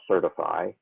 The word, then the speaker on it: CertFi: The second one mentioned is the CertFi, or usually pronounced certify, framework for communicating about security concerns or incidents.